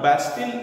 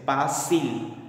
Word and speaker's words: Bastille: Now Bastille is the English pronunciation. The French pronunciation of Bastille is Bastille.